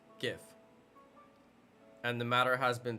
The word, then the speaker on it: GIF: Go to school and you'll learn that the G makes a G sound. G. Alright. So it is GIF.